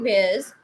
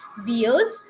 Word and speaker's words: bears: Many people, they pronounce it as beers. This is not beers, this is bears.